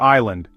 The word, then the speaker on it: island: Think of listen, where's the T or island, why the S.